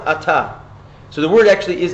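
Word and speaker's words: אתה: At, it's written At. It's pronounced Ata.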